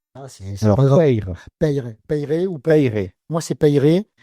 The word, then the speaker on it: Peyre: L'interview matinale toujours en compagnie de Vincent Vincent P je sais plus c'est Pay non c'est pas payé. On dit payer ouais.